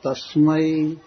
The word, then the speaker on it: तस्मै: और म पर भी नमः तस्मै त के बाद स है आधा। इसीलिए त थोड़ा मोटा उच्चारण होगा। दीर्घ उच्चारण होगा।